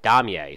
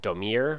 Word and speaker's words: Daumier: Now, on to another realist painter named Damier, sorry. His name looks like Daumier, all right, but that's not how it's pronounced.